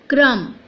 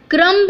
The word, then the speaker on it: crumb: सो in that case we कैन say that क्रम। क्रम्ब नहीं बोलना है, again B is silent here, so we have to से CRUM, only M तक का साउंड आपको देना है, दैट इज क्रम।